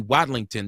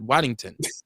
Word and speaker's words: Wadlington: She told me the other night like, "Dude, my name is Beauty Watlington, not Wington.